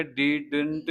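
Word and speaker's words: didn't: चीज ये है कि जैसे लिखा हुआ है वैसे नहीं बोला जाएगा डिडंट नहीं बोला जाएगा बीच वाला डी साइलेंट है डिडट हो जाएगा वो बस ठीक है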